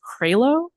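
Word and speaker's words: Crailo: And I think it's pronounced Cralo.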